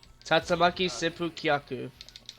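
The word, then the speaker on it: Tatsumaki Senpukyaku: How the fuck are you supposed to pronounce that spinning kick? Tatsamaki Seppu Kyaku.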